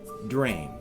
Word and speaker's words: Dreym: This creature is Dreym. D-R-E-Y-M is effectively how we would spell it with the pronunciation.